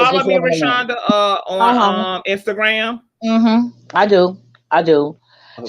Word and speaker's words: Rashawnda: It's Rashonda. I'm going to spell it.